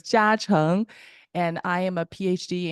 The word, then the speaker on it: Jiacheng: It's kind of hard to pronounce. So it's Jiacheng.